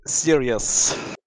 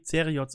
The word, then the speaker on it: Zerioz: GG Serious. Ja, oder wie man nicht ausspricht. Ja, so passt schon. Nein, Fred Perry hat gesagt, es wird wahrscheinlich eher wie Zeriots ausgesprochen.